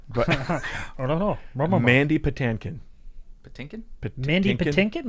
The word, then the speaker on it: Mandy Patinkin: How do you say his name? I thought it was Mindy. I thought it was Patinkin. It's Mindy Patinkin. Mandy. Mandy Patinkin. Mandy Patinkin.